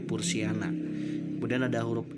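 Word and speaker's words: Purshiana: Kemudian contoh Pursihiana diucapkan sebagai Pursiana.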